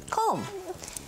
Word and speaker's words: comb: good okay comb now this word is really interesting cuz it has a b at the end but you don't pronounce it comb do you use a